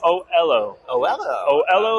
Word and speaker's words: Oelo: and we are at Olo is that how do you pronounce this oo o oo like hello oh that's I I like